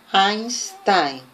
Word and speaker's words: Einstein: Hola, ahora con la pronunciación de la EI, que en alemán es Ein, Einstein.